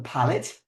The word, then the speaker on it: palate: Okay, a hint of violets on the palate. So that's how we actually pronounce that part of your body. Okay, it's called your palate, not palate, not palate.